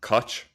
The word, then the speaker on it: Koch: I would pronounce it Koch, but I think it's Koch, Koch, Mm, 80/20 principle.